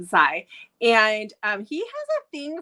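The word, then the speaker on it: Xi: This one is about Zai. I think it's how you say it. It's X-I. So I think it's Zai.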